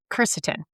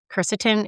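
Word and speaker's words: quercetin: Now, additionally, I love to throw in ceretin. Keretin is spelled with a Q. Q U E R C E T I N.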